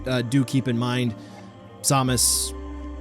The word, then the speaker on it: Samus: so samus but uh do keep in mind samus correct pronunciation so i'm gonna slip up throughout all